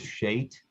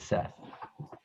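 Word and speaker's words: שֵׁת: For some reason, the sh of shate was rendered into English as a s, and for some reason, the ch at the end of the word was rendered th. So that is shate, which in English is pronounced as Seth.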